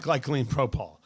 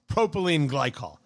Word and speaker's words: propylene glycol: It's not glycine propol. It's propylene glycol.